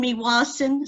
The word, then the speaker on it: Meewasin: Miwesen. And the bottom? Saskatchewan. That's pretty darn good. Good for you. I know Saskatchewan is your state. I learned that at school already. Saskatoon, Meewasin, Saskatchewan.